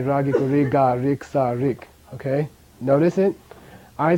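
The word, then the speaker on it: རིགས: For example, Jorlok, ra, ra, giku, ri, ka, rik. Okay. Now, secondary suffix letter. Ra, giku, ri, ka, sa, rik. Same sound. The sa is silent.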